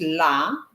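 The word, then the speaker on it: ላ: The fourth letter here, it's la, which is pronounced like large, the L-A in large, so la.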